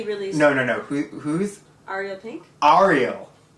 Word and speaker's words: Ariel: Ariel. I say Ariel. I've been going to Hebrew school. There's a lot of Ariels. Well, Ariel is how you say it in Spanish.